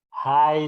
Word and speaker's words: high: Ya, ini ingat ini dibaca high ya kan dulu udah pernah seingat saya sudah pernah saya sampaikan ini cara membacanya ya. High school ya, bukan hike ya. Atau apalagi hik ya.